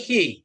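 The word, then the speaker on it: χῖ: Pak Itu chi Dokter, bukan chi Pak ya itu ya. Hi ya jadinya. Ini hi, Bukan chi ya. bukan. Kalau ini xi atau X dalam bahasa Indonesia. Ya, Iya, kan X itu kan chi Pak. Kalau ditulisnya chi, dibaca hi ya.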